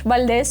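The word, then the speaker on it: Valdes: I'm pronouncing it in Spanish, Valdez or Valdez, which I think is such a subtle yet clever reference.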